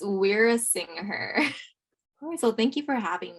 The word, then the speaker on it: Weerasinghe: with me i don't know how to pronounce her last name even though i'm also brown i'm gonna butcher it so it's we're a singer so thank you for having me um my